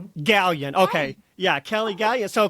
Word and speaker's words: Galyean: So, I want to just welcome Kelly Gallin to the podcast. I should have asked you before we started recording. Is Galin, is that the right pronunciation? Oh, it's Kelly Gallion. Gallion.